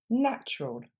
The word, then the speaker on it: natural: encore une fois chocolate on passe à naturel qui va avoir seulement deux syllabes et on décompose ça nous donne encore une fois Natur plus rapidement natural encore une fois natural